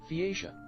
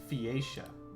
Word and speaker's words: Phaeacia: Phaeacia. Phaeacia. That's how you pronounce it.